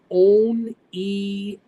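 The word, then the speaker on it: Oneonta: Omneti is pronounced On-E-A-Ta, and I can't find it.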